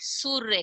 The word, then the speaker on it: सूर्य: उच्चारण हम स और य के बीच में करेंगे, ठीक है। स बड़े उ की मात्रा सु, र ये क्या बना, सूर्य।